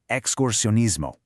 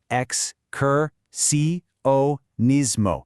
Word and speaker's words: excursionismo: In Spanish, that's excursionismo. It looks long but we can break it down. Ex-cur-si-o-nismo.